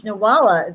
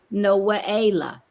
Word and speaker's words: Noaela: Well, it's actually the way that it would be pronounced is more of a Noaela.